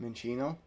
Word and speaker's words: Minccino: Minccino. Minccino.